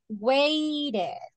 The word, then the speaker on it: waited: you will see but the pronunciation is waited ohed yeah wa yeah because if you say ah waited present wait past waight okay you